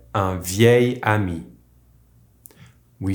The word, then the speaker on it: vieil: Ami here is masculine but because it starts with a vowel, with these specific adjectives we use the pronunciation of the feminine adjective while writing it as a masculine with a single L.